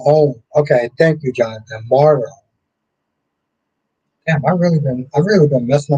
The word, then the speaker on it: Morrow: Bowen is pronounced Bow. Oh, Morrow. Josh Morrow. Oh, okay. Thank you, Jonathan. Morrow.